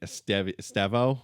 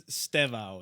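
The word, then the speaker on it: Estêvão: Esteo. I think it's I think it's Stevo is how you pronounce it, but I I think everybody says Esteo.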